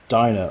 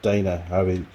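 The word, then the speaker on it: Dyna: to electronic ignition from diner or dana depends on how you pronounce it and depends where you live in the world is that too small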